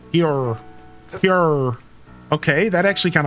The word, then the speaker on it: pu'er: Let's go ahead and make some pu'er tea. Yes, get ourselves some pu'er tea out here. It's got a laxative effect. Shut up. Pure, but it's pronounced like a hick. Pure.